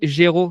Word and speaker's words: Géraud: Bon, le dernier Géraud que j'ai reçu sur le podcast, et c'est un prénom que je ne connaissais pas avant, c'est Géraud Payot de Montabert.